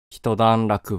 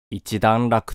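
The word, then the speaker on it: 一段落: する苗字である人段落はただしくは一段落と読むヨーロッパの選択機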